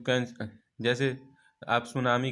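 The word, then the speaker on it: tsunami: यू कैन, जैसे आप सुनामी का एग्जाम्पल ले लीजिए, उसमें टी जो होता है, सुनामी जब आप लिखेंगे TSUMANI, लेकिन उसमें टी जो होता है साइलेंट होता है।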